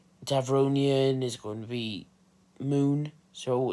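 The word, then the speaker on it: Muun: And then there's going to be Aqualish, there's going to be Devronian, there's going to be Moon. So it's spelled M-U-U-M-N.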